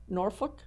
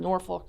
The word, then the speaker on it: Norfolk: what do you say Norfolk I call it Norfolk Norfolk but the natives call it Norfolk Norfolk there's there's only one r no more folk yeah okay well I'm going to Norfolk for now okay that's